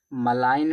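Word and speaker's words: malign: मलाईन में जी साइलेंट इसका मतलब क्या होता है?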